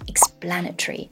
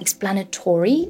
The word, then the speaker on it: explanatory: And in general, I would say that explanatory is more the American way of pronouncing these words that end in O-R-Y, and that the British English pronunciation is more explanatory.